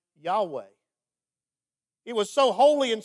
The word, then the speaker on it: Yahweh: the ancient hebrew language scholars don't even know exactly how to pronounce it the best guess they can come up with is something like yahweh it was so holy